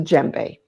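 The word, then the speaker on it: djembe: A hand drum known as a jbe. There you go. Dj MB is how it's spelled. You don't pronounce the D.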